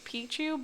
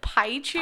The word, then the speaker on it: Pichu: Yeah, like, my favorite Pokemon is Pichu, but you always called it Paichu.